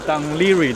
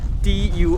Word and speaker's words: Dún Laoghaire: 我现在给大家看一下 Dunleary 的拼写是怎样的。其实，之前小镇的拼写其实和读音很像，是 Dunleary Dunleary，但是现在呢，它改